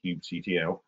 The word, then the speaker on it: kubectl: At the bottom there is one of a topic of much pronunciation debate, how to pronounce it, but I'll call it kubectl.